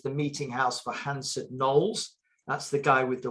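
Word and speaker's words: Knollys: meeting house for hanson knolls that's the guy with the weird surnames spelt k-n-o-l-l-y-s but we think it should be pronounced knolls we are english after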